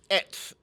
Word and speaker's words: AETS: Eight. Say it again. Ets. Spell it. Spelled is AETS.